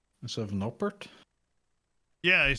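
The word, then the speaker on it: Noppert: Did he just say Noper instead of Nopert? Yeah, he said, I think every American broadcast has said Nopert. No, I don't think he's saying the T because I think he's pronouncing it like it's French. No père.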